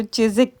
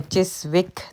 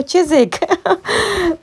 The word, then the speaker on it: Chiswick: मैं आई थी तो बाद में पता चला कि इसको चिसिक कहते हैं तो खैर इनकी अपनी मर्जी है इनकी अपनी इंग्लिश है जैसे मर्जी इसको प्रोनाउंस करें लेकिन हमें सीखना पड़ता है क्योंकि फिर हम फनी लगते हैं जब हम कहते हैं चिस विक तो बाद में लोग कहते हैं ओ चिसिक तो इस तरह से